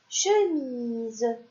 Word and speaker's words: chemise: aussi comme le mot chemise ici encore une fois nous avons la voyelle i et la voyelle e et le S au milieu et donc le S se prononce ze et des fois la